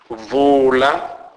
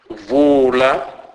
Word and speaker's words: vula: U is pronounced as U, U, as in a word full. Examples: vula, vula, which means open.